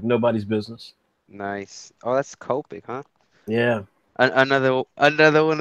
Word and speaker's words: Copic: you like you just you're gonna pronounce it as is and then Copic you're like I'm gonna add something to cop I'm gonna make it coping I just go by